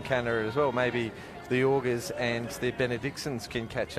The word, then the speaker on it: Auger: And Wayne, how do you pronounce that? A-U-G-E-R? Auger.